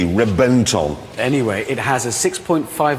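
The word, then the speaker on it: Reventón: No, I know it's spelled with a V, but it's pronounced with a B. Why? I don't know. They've told us it's B. Reventon.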